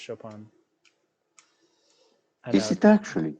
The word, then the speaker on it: Chopin: See, it's pronounced Chopin.